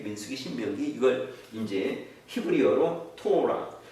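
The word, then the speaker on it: תורה: 토라.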